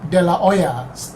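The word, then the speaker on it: de la Hoya: then Gabe de Hoya de Oya Oya right if it's like a Spanish name you don't pronounce the h so but then Gabe de la Oya started working there and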